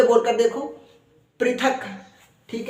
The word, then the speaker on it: पृथक: तो हमने कहा भ्री अब प के पैर में ऋ लगा तो कहेंगे प्री प्रीथ क क हलंत है तो क को जल्दी ही बोलकर चुप हो जाना है तो कैसे कहेंगे पृथक पृथक पृथक फिर से बोल कर